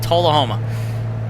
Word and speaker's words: Tullahoma: Or Tullahoma. That's right. It's not Tool. It's Tull. If we watched the video and I already forgot, this is terrible. Tullahoma.